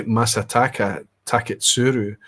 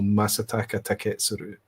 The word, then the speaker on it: Masataka Taketsuru: I used to say masataka taketssuru but I remember a Japanese speaker saying there are no there are no accents. There are no uh pronounced everything is is continuous is flat.